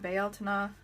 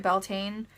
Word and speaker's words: Bealtaine: That's, for anyone who's like, isn't it Beltane? I'm using the Irish pronunciation. Bealtaine is the literal word for the month of May in Gaeilge, the Irish language. That is literally what they still say today. So that's the word I'm using.